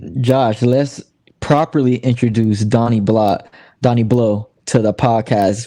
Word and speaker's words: Blot: My name is Donny Blot. That's BLOT. The T is silent because it's French.